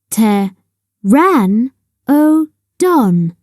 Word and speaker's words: Pteranodon: means winged and Toothless how do you say it Pteranodon say Teran oon a Pteranodon is bigger